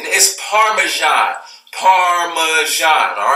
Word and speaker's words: Parmesan: everybody's this said parmi zijn parvizi is parmesan Parmesan all right this is what a [